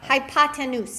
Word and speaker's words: hypotenuse: you said you said hi pop pop pop hypotenuse it's written up there on the paper in case you were gonna see as I hypotenuse C equals 5 ready go it's my bad